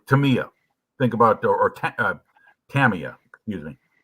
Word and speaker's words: Tamiya: Tamiya, you said it right the first time. I've heard both, so I try to be I try to practice both, because I said for years, I said Tamiya, and then I heard.